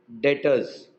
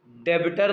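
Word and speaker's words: debtor: Stock डेटर्स, डेबिटर नहीं है, डेटर है. क्या है? डेटर, B silent, डेटर, डेबिटर नहीं, डेटर.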